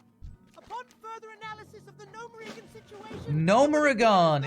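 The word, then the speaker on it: Gnomeregan: A real gnome would know how to say Gnomerigan, not Gnomerigan. Getting more frustrated by these voice actors every time I hear them mispronounce Gnomerigan.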